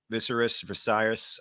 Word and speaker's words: Viserys: course, they show King Viserys. I always say his name wrong. Dying. Viserys, you're right.